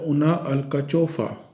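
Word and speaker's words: una alcachofa: तो इसका प्रोनाउंसिएशन होता है उना अल्काचोफा, ठीक है।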